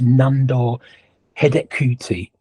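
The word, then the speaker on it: Nándor Hidegkuti: Their centre forward, and I'll try and get the pronunciation of this right, it's Nandor Hedekuti, who was a fantastic player at the time.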